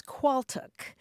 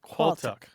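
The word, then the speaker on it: qualtagh: and that word is qual now let me explain it's spelled a little bit strangely it's qu a a l t a g h qual yes and the reason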